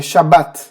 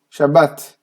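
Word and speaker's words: שבת: tomar muito cuidado hein falar da forma crédito né shabat é shabat shabbat então é uma questão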